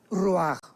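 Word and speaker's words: רוח: y la parte espiritual, que es la palabra ruach, que se pronuncia ruach.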